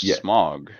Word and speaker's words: Smaug: Is it pronounced Smaug? I thought it was pronounced Smog. Nah, it's either one.